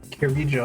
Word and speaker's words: Kirijo: Kirijo, that's how you pronounce it.